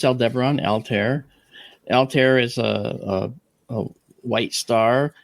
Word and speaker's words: Altair: Aldebaran, Altar, Antares, and Rigel.